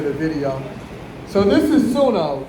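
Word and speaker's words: Suno: we get to the video so this is sunno it's spelled s u n o so you might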